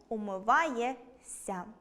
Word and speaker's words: умиваєшся: Збіг приголосних -шся- вимовляємо як , тому – .